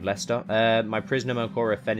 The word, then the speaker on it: Leicester: let's march on to lychester it's always reminds me of the way that americans say uh pronounce my home city of leicester uh my prisoner cora